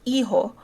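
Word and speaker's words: hijo: even gonna hazard an h is silent in spanish so it's iho yeah like me ho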